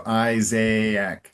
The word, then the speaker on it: Isaac: And it's this is like the only word in English where there's two A's. And and and we actually pronounce them separately. So Isaiaak.